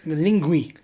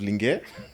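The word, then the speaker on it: Linguee: Is it called Lingue or is it Ling? Lingui. Lingui. Yes. So I've always been pronouncing it as Lingue.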